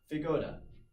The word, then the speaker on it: feijoada: It is the feijoada. That's how it's pronounced.